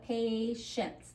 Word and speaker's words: patience: So patience, this is the second syllable. You can start it with the T-I, C-I, S-I, and they're gonna have the sh sound.